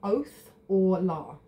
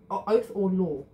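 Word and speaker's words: Othala: show you this way it's the pronun pronunciation which I always get wrong is O oath or law oath or law meaning property and inheritance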